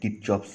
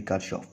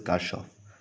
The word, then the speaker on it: Kirchhoff: this Kirchhoff's law Kirchhoff's law okay some people pronounce like tip chops law but it is actually cut off okay name is car shops so Kirchhoff's law